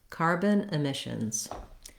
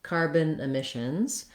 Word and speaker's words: carbon emissions: The main stress in the phrase is on the word emissions, and it's on the mish syllable. So my rhythm for carbon emissions is going to sound like carbon emissions.